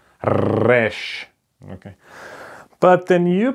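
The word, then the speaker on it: ר: Now the next letter is pretty hard to pronounce. The next letter is called resh.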